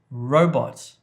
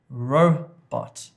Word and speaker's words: robot: Number 2, robot, robot, robot. So the emphasis, the stress is on the first part of the word.